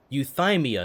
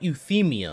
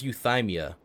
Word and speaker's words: Euthymia: her being oh okay so it's pronounced euthymia not euthemia i've been saying you